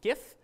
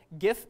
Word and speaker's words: GIF: the street is that the original developers wanted it to be pronounced like the peanut butter because they said like